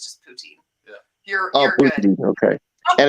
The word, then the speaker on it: poutine: that right am I pronouncing it right people pronounce it differently we're from western Canada so it's just poutine okay and it's Friday it's fries it's fries